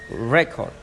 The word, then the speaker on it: record: W ទី5អញ្ចឹងបើវាជា noun និងជា verb បើវាជា noun គេថាទី1ត្រូវអានលឺជាងទី2អញ្ចឹងថា record អញ្ចឹងគឺ stress នៅពាក្យថាអក្សរ rec the first syllable អញ្ចឹងអានឹង stress ដល់ពេលទៅជា verb អញ្ចឹងអានថា to record